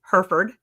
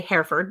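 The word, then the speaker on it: Hereford: Um, so you brought home your registered hair or as they say in Texas, Heroford. We say Herford because that's how you say it because what right there look not.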